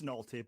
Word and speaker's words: Nohelty: Nohelty. Did I pronounce that correctly? It's Nohelty, but it's okay.